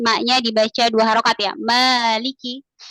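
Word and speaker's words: مَالِكِ: dibaca Dua harakat ya Maliki kalau dalam mazhab Imam Maliki Imam Malik ini bacanya enggak panjang Maliki yaumiddin Ya tapi kalau maab kita harus dibaca Dua harakat yaikiin silakan Masyaallah selanjutnya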